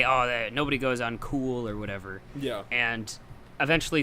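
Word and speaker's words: Cuil: called cool theory which I thought was named quill theory considering it's spelled see UIL but it's actually I found out pronounced cool theory I could see that really yeah I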